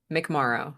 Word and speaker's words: McMorrow: McMorrow, just like tomorrow.